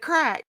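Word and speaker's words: craic: and I looked up the definition and the pronunciation Irish listeners I swear and it said crack and for those who don't know that is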